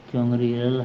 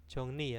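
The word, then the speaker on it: 정리: eh, Tongjang Jongril Hamnida. Ya, Tongjang Jongri Hamnita itu apa? Jongni ya, bacanya Jongni bukan Jongri. Jongni.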